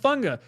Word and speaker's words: Fuaga: But then again, Fuaga's name is pronounced Funga.